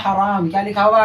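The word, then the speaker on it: حرام: तो हराम ना बोल रहे हैं हम, हराम बोल रहे हैं। जब आप सही तरीके से सुनेंगे तो आपको प्रोनाउंसिएशन सही तरीके से आ जाएगा। जब आ जाएगा और साउंड ही पता चल जाएगा छोटी हा है कि बड़ी हा, तो आप इमला लिखने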